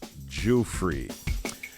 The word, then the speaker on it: Juilet: I'm not going to call her Guffer again. It's Miss Virginia Juilet.